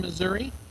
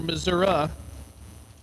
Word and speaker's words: Missouri: RAC track Mount Vernon Missouri or mura depending on uh where you live in that great state Miller CH 444 the